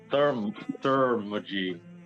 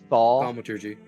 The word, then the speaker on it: thaumaturgy: I took Thermagy as a cantrip. Thaumaturgy. Hold on. Yeah. How do you say it? Thaumaturgy.